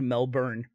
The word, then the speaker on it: Melbourne: Never going back to Melbourne, Australia ever again because you can't say it right.